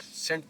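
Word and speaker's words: scent: सेंट। अब यह word सेंट पढ़ा जाएगा। यहां पे भी सी की आवाज को हम साइलेंट रखेंगे। एसेंट।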